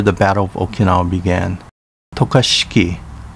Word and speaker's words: Tokashiki: this is where the battle of okinawa began tokashiki pronounced tukashi in uchinanguchi aguni pronounced aguni in uchnaguchi ike